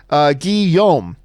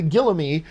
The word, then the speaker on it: Guillaume: to it side note my name is pronounced Guillaume Oh Guillaume I actually you know what I should have known that I should have known that Guillaume I called the Gila me but Guillaume I'll probably